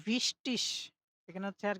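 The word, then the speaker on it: wichtig: গে থাকে তখন এটা উচ্চারণ হচ্ছে ইসের মতো উচ্চারণ হবে। ঠিক আছে? ইস। যেমন রিস্টিস মানে সঠিক, রিস্টিস মানে সঠিক। ঠিক আছে? তো ভিস্টিস এখানে হচ্ছে আর কি এখানে একটু টাইপিংটা মিস্টেক হয়েছে।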